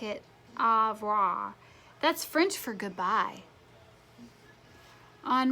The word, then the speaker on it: au revoir: You say it like it, au revoir.